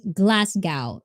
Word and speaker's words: Glasgow: to be mentally strong and it takes practice glasgow is that the first one that i that i pronounce is that the one i think i